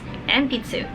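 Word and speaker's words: 鉛筆: Pencil in Japanese is enpitsu.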